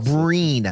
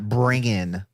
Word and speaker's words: Breen: Breen, not Bringin. No, he's saying the real name of this is Bran Castle. No, that's not the. No, what? No, he's just an idiot. He mispronounced Breen.